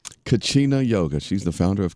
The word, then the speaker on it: Kachina: is the founder of oh how do you pronounce that Nicole Cucina Kachina yoga she's the founder of Kachina yoga ladies